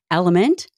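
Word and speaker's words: LMNT: forward thank you to element for sponsoring this episode of the show element spelled l m NT but pronounced element is an incredible electrolyte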